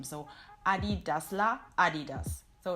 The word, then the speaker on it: Adidas: That is how Americans, I think, would call it. It's not Adidas, but Adidas.